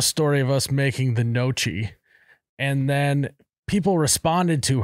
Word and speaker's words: gnocchi: It's spelled G-N-O-C. Gnocchi.